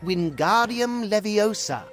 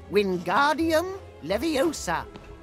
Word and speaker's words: Wingardium Leviosa: The is Wingardium Leviosa, just like this. Wingardium Leviosa. Pay attention 我按了哦。 It's 什么 Wingardium Leviosa？